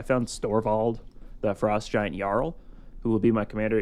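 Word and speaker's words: Jarl: So, I found Storevald, the frost giant, Yarl, who will be my commander. He is a it's pronounced jar four and yeah, go ask your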